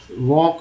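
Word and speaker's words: walk: वॉक में एल जो है साइलेंट है, यानी कि एल लिखे जरूर है, लेकिन इसका उच्चारण नहीं करना है, लिखना है।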